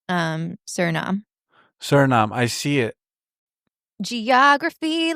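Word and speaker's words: Suriname: Yeah, but it's pronounced um Sernam.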